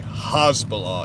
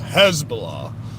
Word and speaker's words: Hezbollah: jihad these people humas um Hezbollah stop saying hasbalah it's Hezbollah the way you pronounce these words words it's h e z b o l l a h Hezbollah and it's Jihad J I not Jihad